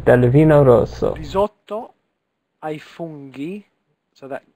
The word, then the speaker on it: funghi: Risotto ai funghi, so that G, the G is a G, funghi.